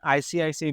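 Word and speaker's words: ICICI: love नहीं पढ़ते एन आईसीआईसी branch N आईसीआईसी employee इसको इक्की इकी नहीं पढ़ते है एंड आईपीएल प्लेयर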